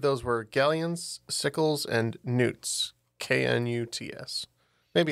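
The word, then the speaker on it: Knut: I also am not exactly sure how it is pronounced. In my head, when I read it, it's always canutes. But yes, it's galleons, sickles, and newts.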